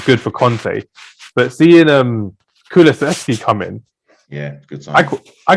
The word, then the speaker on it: Kulusevski: But then they pulled the 2 Juventus signings out, Bentancur and Kulevsky, whatever you say his name. Kulusevski, yeah.